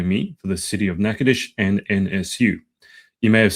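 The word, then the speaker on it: Natchitoches: from Provinile, Louisiana represented Nacades, Louisiana at the Miss Louisiana pageant. I was telling Jesse before we got on that I was going to pronounce it as Nachochis. Um, apparently I was quite wrong.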